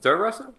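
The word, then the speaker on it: Theresa: do you pronounce it Teresa? It's pronounced Teresa.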